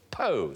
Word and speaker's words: Poo: The aisle of Boko used to be called Fernando Poe, spelled Poo but pronounced Po.